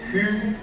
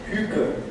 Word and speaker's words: hygge: It's called hygge, and hy is a Danish vowel that is not really existing in English. And is also an E that is not really used commonly in English. So hygge.